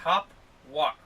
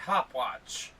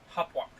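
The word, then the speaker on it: Hauptwache: It is Hopwalk, not Hopwatch. Which a lot of Americans pronounce it as. Hopwalk.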